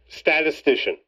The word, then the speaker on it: statistician: JD, tell him how to say it. Statistician. Oh. Now say it, Sal.